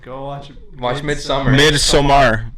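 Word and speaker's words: Midsommar: watch it watch mid-summer mid somar it's spelled like mid-summer but with an o instead of a u beautiful all right and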